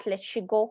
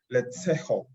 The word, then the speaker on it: Letseho: of group payments at Leshigo Holdings Limited. Razel, I hope I've finally been able to pronounce that, Leshigo or Lehigo? Oh, Letseho.